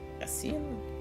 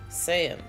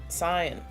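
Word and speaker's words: scion: Asian? descendant, child, especially a descendant of a wealthy, aristocratic, or influential family. Pronunciation. Saiyan. Saiyan.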